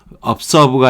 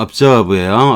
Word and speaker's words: observe: 그 다음에 observe 발음 자꾸 틀릴 수가 있는데 observe가 아니고 observe예요.